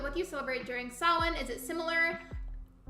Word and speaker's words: Samhain: Oh, it's not sound, it's, here, I'll type it, but it's pronounced like Samhain, so Samhain, but it's spelled very differently from how it's said, but it's pronounced like Samhain.